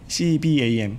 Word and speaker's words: CBAM: CBAM 이거 잘못 발음하면 좀 거시기 한데 CBAM, C하고 BAM 이렇게.